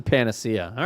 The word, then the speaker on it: panacea: be a p Panacea Panisha how do you say p Panacea Panacea Panacea it is a panace all right good old Panacea